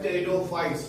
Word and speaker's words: Pteridophytes: क्या का P silent होता है, इसको पढ़ते हैं टेरिडोफाइट्स।